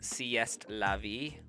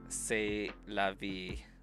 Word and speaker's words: c'est la vie: But, like, I read that as sieste la vie. But, like, I know that it's pronounced say.